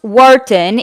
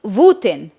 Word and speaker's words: Wooten: It's not pronounced Wharton, it's pronounced Wooten.